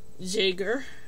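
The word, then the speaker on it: Jäger: beanie designed by Sarah Jagger I'm saying it like that even though it's spelled j a with two dots on the top G e r because I think it's German I I could be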